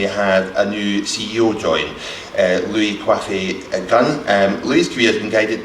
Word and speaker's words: Louis Coiffait-Gunn: You did pronounce it right, it's Louis Coiffé-Gunn.